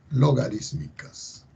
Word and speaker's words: logarítmicas: La función que vamos a estudiar ahora va a ser las funciones logarítmicas. Acento en la I, logarítmicas.